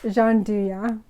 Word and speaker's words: gianduja: the dean gianduya or jean du ya there's um i'm probably pronouncing it wrong i think it's jean duya that's the proper way to pronounce it so i'm gonna open